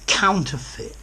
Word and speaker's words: counterfeit: Notice the pronunciation at the end. Counterfeit. Fit. Okay? If something is counterfeit, it's false, especially money.